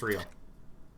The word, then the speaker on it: real: What's real? Oh. Excuse me, you owe me 130 real. Pronounces the R.